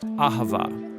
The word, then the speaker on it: Ahavah: It's pronounced Ahavah.